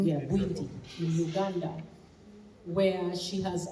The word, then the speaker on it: Bwindi: And her work in Bwindi, it's pronounced Bwindi, right? Yeah, Bwindi, in Uganda, where she has actually saved gorillas there from going into extinction.